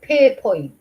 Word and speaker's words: Pierrepoint: So Pierrepoint, it's pronounced.